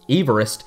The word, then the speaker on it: Everest: And one last fun fact, Everest should really be pronounced Everest, since it's named after British geographer George Everest.